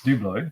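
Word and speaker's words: Dublo: double Flying Scotsman Dublin doublo people get offset when you say do blood phonetically it's do blow it's dude though but it identifies as Dublin okay because it's meant to be double O right okay that was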